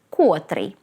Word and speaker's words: котрий: кальки з російського которой котрий по-перше слід пам'ятати що цей займенник має єдиний наголос не на першому А на останньому складі котрий котра котре А по-друге у ролі